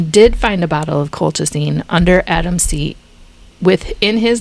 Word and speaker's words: colchicine: Colchicine?